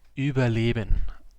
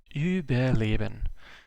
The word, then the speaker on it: Überleben: How do I pronounce my stream name? Like Überleben. Überleben. That's how I pronounce it and how it is pronounced. The U, E, like it's first of all it's a German word. Second of all, the U, E is together just an Ü, which is like a letter in the German alphabet, which